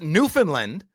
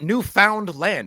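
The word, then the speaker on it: Newfoundland: second of all uh it's Newland not new found land it's not three separate words it's one word and new finlanders say it like this Newland okay faster go ahead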